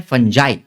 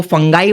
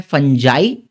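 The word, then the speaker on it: fungi: है फिर आते हैं फंजाई ठीक है कुछ लोग इसको फंगाई बोलते हैं लेकिन इसका करेक्ट प्रोनाउंसिएशन है फंजाई।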